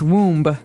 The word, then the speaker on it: womb: hard word to pronounce there's a b there so w-o-m-b we don't pronounce womb right we say womb womb and this is